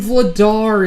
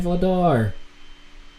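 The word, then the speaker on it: Vladař: Yeah, Dan Vladar. Or Vladosh, I think is how his name's pronounced in Czech.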